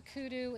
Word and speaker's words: kudu: backyard in South Africa kudu is a African antelope with the beautiful headpiece and we named this piece after him and it also rhymes with hairdo and updo and it's a nice